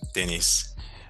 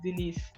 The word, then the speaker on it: Denise: our podcast today um Dennis your name is Dennis right like Dennis uh it's actually pronounced Denise all along forgive me I'm used